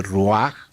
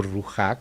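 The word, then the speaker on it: רוח: como un sinónimo de Ruach o Ruja, como algunos también pronuncian, que quiere decir el espíritu.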